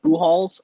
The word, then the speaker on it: Buchholz: spelled it out as pronunciation BUH-HOLZ. I was hoping that you would pick up on that. So I don't know if it's like Albert Pujols, but it's like Buchholz.